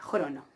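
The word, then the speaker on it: χρόνῳ: Entonces, crono, y ven que yo no pronuncio la iota suscripta, crono.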